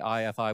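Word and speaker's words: IAIFI: guess can tell you I aii pronounced IFI no one gets it right unless we tell you is the NSF aai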